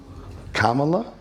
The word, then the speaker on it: Kamala: do you say her first name Kamala yeah Kamala like K la that's fresh DED this is